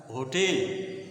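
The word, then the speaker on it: hotel: एल तो किसी किसी जगह जो है ऐसा उच्चारण होता है होटेल होटेल कहीं कहीं य प्रोनाउंस नहीं होता कहीं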